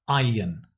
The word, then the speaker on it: iron: Notice the pronunciation. We don't pronounce the R. It's iron, yin, yin, iron, iron, iron, iron out.